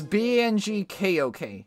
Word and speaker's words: Bangkok: okay you learn yeah it's bangkok but it's bng kok not that it's not spelled like haha funny no it's